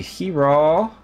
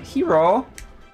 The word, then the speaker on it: Hiro: It's supposed to be Hiro. Okay, I can say it like that. Hiro.